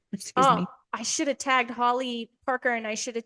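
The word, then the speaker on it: Halle: my old last name it's spelled h a l l e but it's pronounced Holly um is it yes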